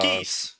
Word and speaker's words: Geass: Technically, it should be Code Ah, Geass. yes, here we go. I think localized they pronounced See? it Code geese.